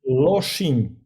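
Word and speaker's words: Lošinj: Can you tell me how to pronounce it? Loshing.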